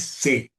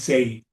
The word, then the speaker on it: Say: El el la pronunciación es C, no es CI. Okay. Como dije yo hace un ratico, es C. Okay. Juan Bautista C.